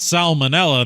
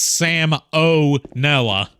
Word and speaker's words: salmonella: to watch some salmonella no that's not Sal manella that's Sam Oella that's what I said